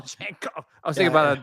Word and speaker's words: Django: The D is silent. It is usually silent. I don't know what D you're talking about, but Django. oh, Janko.